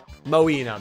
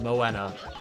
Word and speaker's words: Moana: Moina. Beautiful. Beautiful. Love it. Well, that's classic me mispronouncing names. Uh, but we we we got it. We got it. Moana.